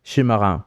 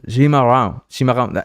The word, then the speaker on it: chimarrão: It's more like a Cimarrão, no? Right? Am I saying it right? Cimarrão. It's more like a sh, right? More like it's not really a s. It's like a chimarrão.